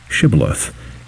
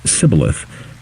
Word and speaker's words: shibboleth: by making him say shibboleth. If the soldier pronounces the word sibboleth, apparently the regional dialect of Ephraim, then he is immediately killed.